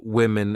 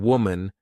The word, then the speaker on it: women: even though the uh the singular and plural forms of women and woman have the same spelling at the beginning wow M the pronunciations are different woman women so watch out for that when you say